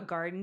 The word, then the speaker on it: Gardyn: Y'all, I have a garden tower and I grow like a lot of leafy greens on it. It's spelled garden with a Y, GARDYN.